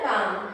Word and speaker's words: calm: एल को नहीं बोलना है यहाँ पे, एल प्रोनाउंसिएशन नहीं करना है। CALM काम, ठीक है, समझ रहे हो?